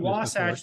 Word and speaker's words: Wasatch: the state I realized people didn't know how to pronounce wasach so I started saying wasach like SAS watch right that just kind